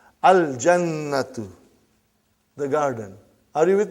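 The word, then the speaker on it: الْجَنَّةُ: Brother, you will pronounce lam. Al-jannatu.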